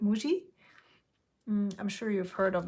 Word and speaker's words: Muji: it's so funny so Japanese people pronounce it differently you know we call it Muji I'm sure you've heard